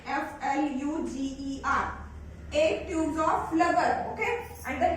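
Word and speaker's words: Pflüger: Egg tubes of Flubber. P. Here P is silent. F-L-U-G-E-R. Egg tubes of Flubber.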